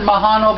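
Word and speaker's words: majano: yeah and then the magino or mojano pronounce it well i pronounce it mahano because artesia is spanish and that's how they pronounce j's makes sense i have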